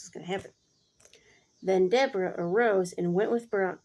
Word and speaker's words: Deborah: Then Deborah, I don't know, I've always called her Deborah, but when I looked up how to pronounce it, it's actually Deborah.